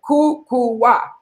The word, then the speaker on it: Kukuwa: of our African names are very difficult to pronounce but my name kuku is very fanatic kuku wa k UK u WS i named it kuku